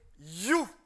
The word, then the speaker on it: HU: On prend un son mantra qui écrit HU, qui prononce you.